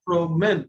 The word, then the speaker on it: promène: I told you that this ENT is never pronounced. Remember? So this E is also not pronounced. So promène, it ends here.